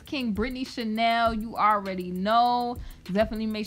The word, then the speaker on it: KingBritneyChanel: Excuse me, I almost said my name wrong. It's KingBritneyChanel.